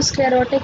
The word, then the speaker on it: sclerotic: स्क्लेरा पढ़ा है लेकिन इसको स्क्लेरोटिक प्रोनाउंस करते हैं।